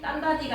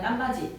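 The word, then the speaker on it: 땀받이: 딴바디가 아니라 딴바지.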